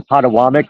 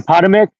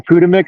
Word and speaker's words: Potomac: So third and fourth to the neighborhood of where you at, even though you're across the Potawatomi, or how do you pronounce it? The Potomac, the Potomac, or whatever, the river right there.